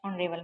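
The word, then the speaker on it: honourable: ही is dash ऑनरेबल man. Answer B is right. N ऑनरेबल मैन आएगा। इसमें H silent है इसलिए sound निकल रही है ऑनरेबल में।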